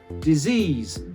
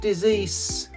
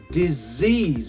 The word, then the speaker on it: disease: Disease. It's not decease. Disease. So yeah, both of the S's have a Z sound, don't they?